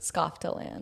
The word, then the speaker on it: Skofteland: How do you pronounce it? Skofteland.